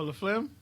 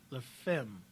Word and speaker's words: La Femme: Oh, La Flim? The show. La Flim. Oh, that's what it's called? Yeah. Like Flim? Yeah. No, I'm sorry. La Femme. Oh. I always say it wrong.